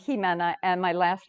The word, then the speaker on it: Ximena: And if you're wondering, well, how do you say my name? Ximena. The X is pretty frightful to it's Ximena, although now XI is very much in the public with Xi, the president of China. So I guess it could be Ximena too. XI has that Xi sound, but it's pronounced Ximena, and my last name